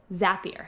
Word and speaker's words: Zapier: I always say that wrong. Zapier rhymes with happier.